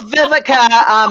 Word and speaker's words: Viveka: Yeah, Veronica, Yeah, it's Viveka.